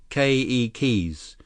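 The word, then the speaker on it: keiki: to tell you that every letter in a Hawaiian word is pronounced here's how you say children in Hawaiian k e keys with the accent on the first syllable okay Lee KK gee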